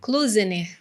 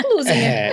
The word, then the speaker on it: Klusener: Klusener. Eu iria falar certo. É porque o pessoal vê um K e aí já cria um monte de coisa, né? Mas é Klusener.